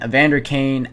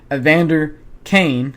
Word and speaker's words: Evander Kane: uh that made it 4 to1 and then Evander Kane absolute missile off of the face off makes